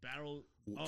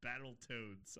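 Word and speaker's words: Battletoads: Um, so Battle Toad Can Can you tell me which websites you were looking at? Oh my god, I mispronounced that. It's Battle Toads.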